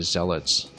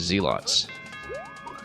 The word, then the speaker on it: zealots: and 30s I think referring to zealots as zeots because that's what they assumed the word was pronounced as back when they saw it in the game manuals back when they were kids, right?